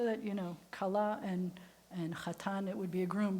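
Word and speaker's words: חתן: And the groom is the chatan. Chatan. In Yiddish, you might say kala and chasen, but the kala is the bride.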